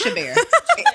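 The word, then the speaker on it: Chabert: Moms correct Us in the comments if we're mispronouncing the Queen's name respectfully you put the empasis on the wrong salable it's shabar is shabar shabar yeah shabar shab shabar K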